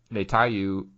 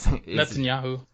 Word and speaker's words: Netanyahu: and then as of today on wednesday uh natalya netanyahu i i can't say his name but like netanyahu okay thank you um is determined to keep